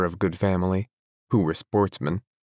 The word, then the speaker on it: sportsmen: good family who were Sportsmen a French word pronounced with the accent on the men the the only trouble